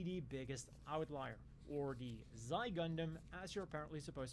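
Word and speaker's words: Xi: First up, as Flight Gun mentioned in his question, the Ci Gundam is probably the biggest outlier or the Zy Gundam as you're apparently supposed to pronounce this in English.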